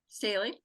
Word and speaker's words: Staley: Staley.